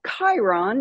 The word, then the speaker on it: Chiron: But I got words that said, "We are from Chiron." Never heard of Chiron in my life, but I heard it with my inner hearing, I guess, with that hard ch that that K sound.